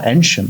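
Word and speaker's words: Eynsham: at the railway in is that how that's pronounced e y n s h a m wow enum yeah what would you have said I would have said an aam call me a offc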